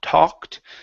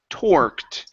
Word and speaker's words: torqued: their pitching arms okay now give me a good R there because right now you're saying T talked okay so it's t or toor okay you're almost there as they tore torqued as they toor okay